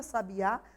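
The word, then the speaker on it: sabiá: refere a um pássaro observem que a palavra sabe a tem o acento na última sílaba chamamos de oxítona pássaro na antepenúltima sílaba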